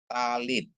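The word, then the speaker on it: טַלִּית: Terus ada tab dikasih kamats bacanya ta. Lamet dikasih hirikyot bacanya li. Ditambah dengan tab menjadi bacanya adalah talit ya.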